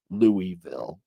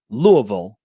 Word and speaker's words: Louisville: The Louisville Visitors Center says that the that only the